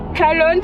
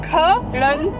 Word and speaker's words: Kalon: Calon se prononce K, bien clair. Calon.